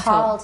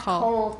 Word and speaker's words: called: Called, not cold. Cold 是很冷. It's not, the air conditioning is not that high, okay? Called. Called. We're going to use a Midwestern accent here. Called, not cold. Called.